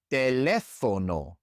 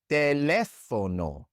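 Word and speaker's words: teléfono: It's the same in musa and teono. Musa teleono. In these two words, we also stress the third to last syllable.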